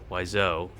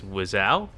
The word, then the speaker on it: Wiseau: I always thought it was Wiseau, but it's Wiseau?